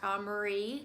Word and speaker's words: Amerii: It looks like it's spelled Amerii, but I have heard it pronounced Amerii, so I'm thinking that is how it is pronounced.